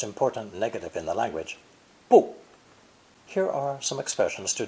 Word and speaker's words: 不: With fourth tone, 不大, 不大, not large. 不 changes to 不 before another fourth tone.